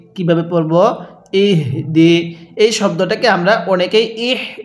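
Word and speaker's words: يهدي: ইহ দি। এই শব্দটাকে আমরা অনেকেই ইহ দি অর্থাৎ হাঁটা উচ্চারণের সময় মুখ দিয়ে বাতাস বের করি।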